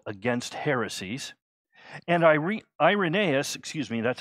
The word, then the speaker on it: Irenaeus: a great book called against heresies and ire irenaeus excuse me that's how you should pronounce it irenaeus would go on to disciple